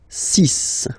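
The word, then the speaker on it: six: Then be careful here, because even if it's ending with this X, well, you'll have to pronounce it like S, okay? So you get the 6 pronunciation.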